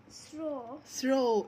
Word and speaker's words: throw: Throw. W هنا مش بننطقها، عشان O W لما تكون في الآخر في كلمة كبيرة بننطق ال O ما نقولش W.